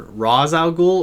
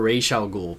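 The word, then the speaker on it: Ra's al Ghul: seed it's dark side it's not razal ghoul it's rather razal ghoul or raal ghoul both are allowed but no no I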